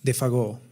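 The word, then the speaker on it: Défago: «Buena suerte, Monsieur Defago», añadió alegremente, dándole por una vez la pronunciación francesa al nombre. «Bonne chance, Defago».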